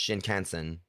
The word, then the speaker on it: Shinkansen: Is it Shikansu? Let me look this up. I mean, it's by Chilla's Art. And it takes place on a bullet train, if I'm right. Pretty sure it's pronounced Shinkansen.